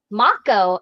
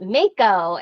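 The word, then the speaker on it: Mako: original one didn't and everyone's like Maco I call it Mayko and it's like the source material said Maco.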